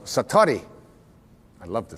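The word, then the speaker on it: satori: it's called excuse my Japanese but it's called satari I'd love to say that s-a-t-o-r-i and it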